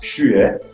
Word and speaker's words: Schuhe: It's actually pronounced Schuhe. But Philip got it wrong the first time and we immediately imagined the logo of the Infinite Shoe Monkey with the huge shoes.